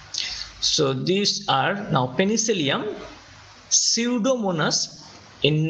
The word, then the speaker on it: Pseudomonas: these are now Penicillium Pseudomonas in name Pseudomonas P is silent P will be silent like pneumonia but in writing have